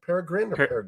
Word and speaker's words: peregrine: know it's a bird how do you pronounce that exactly peregrine peregrine yeah yeah it's like it's like yeah pera and then grin grinning yeah um what moved you